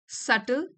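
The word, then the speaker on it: subtle: This सल B silent है इसमें।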